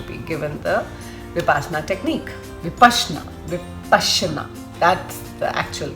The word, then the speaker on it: Vipassana: you're going to be given the vasna technique vashna with Pasa that's the actual correct pronunciation uh I opted for the Hindi version